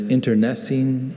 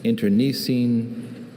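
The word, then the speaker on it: internecine: There's interessine, interine, interessine, and interosine. Internosine.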